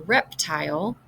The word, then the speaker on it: reptile: this syllable is rep the end of the word has that vce pattern so I'm assuming we're at this point that the E is silent and the I says its name so this syllable should say tile when I put the